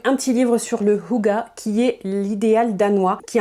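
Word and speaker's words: hygge: Je sais jamais comment on prononce, je sais que c'est pas Hige comme c'est écrit ici. C'est littéralement écrit en dessous, ça se prononce Huga.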